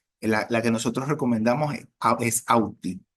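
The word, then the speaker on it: Authy: La que nosotros recomendamos es Auti. Se escribe AU thy, Auti.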